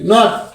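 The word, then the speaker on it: knot: শুধু নাও হয়ে গেল তার মানে কে এর উচ্চারণটা উজ্জ্ব হয়ে গিয়েছে কে এন ও ডব্লিউ নাও কে এন ও টি নট কে N double E কে N double E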